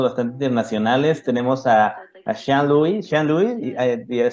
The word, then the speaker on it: Sealoui: Sealoui, did I say it right?